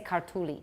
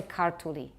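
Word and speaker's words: ქართული: So what you're supposed to do is stress the first syllable a little bit, and then forget about stress. So if the word is, for example, we would like to say kartuli.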